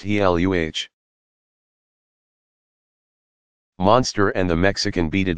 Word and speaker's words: Gila: Two lizards are known to inject venom into their prey, the Gila, pronounced Heluh, monster, and the Mexican beaded lizard.